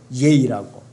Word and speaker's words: yea: 영어 스펠링은 yea요. 예이라고.